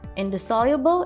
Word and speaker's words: indissoluble: the word of the day is indissoluble indissoluble is an adjective and the soluble is spelled l i-n-d-i-s-s-o-l-u-b-l-e in the soluble indisoluble is